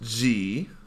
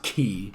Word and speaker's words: Xi: It's not pronounced G, but that's how it's spelled. But it's spelled like it, and the WHO... It's actually pronounced key.